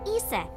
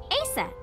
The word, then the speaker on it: Aset: Horus's mom is named Isis, but in ancient Egyptian, it's pronounced closer to Iset, or Aset.